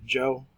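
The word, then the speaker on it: Zhou: Chinese civilization under the Joe and chin dynasty zho you were going to pronounce that Joe and qi n chin so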